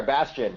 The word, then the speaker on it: Bastian: have Bastian I hope I might be pronouncing your name right Bastian yeah you're right there Bastian French Canadian all right that's good